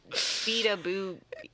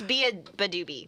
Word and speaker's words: beabadoobee: Do we want to talk about beabadoobee? Oh, beabadoobee. Yeah, sure. Beabadoobee Yabba-dabba-doo? Yeah. Honestly, No. I thought it was beataboo. I don't know. I think it's beabadoobee.